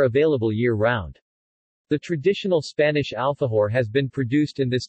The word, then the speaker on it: alfajor: An alfajor or alahu, Spanish pronunciation, alfajo, plural alfajores, is a